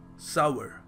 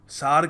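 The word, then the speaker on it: sour: करी है हमने तो इसको प्रोनाउंस करने का सही तरीका क्या है सावर सावर और हम क्या कह देते हैं हम बहुत कुछ कह देते हैं जज बातों में आके हम सार कह देते हैं हम सौर क देते हैं बड़ा सॉर टेस्ट है सूप का मजा नहीं आया या फिर देखो सही तरीका है इसको कहने का सावर द कैंडी वास स्वीट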